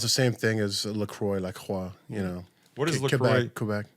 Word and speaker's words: Lacroix: So it's spelled like the water company that's not that popular anymore. But when he pronounced it like a Canadian, say it again for all the people at home. Lacroix.